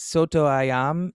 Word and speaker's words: soto ayam: love you here my roommate makes it makes soto ayam is that how you say it yeah yes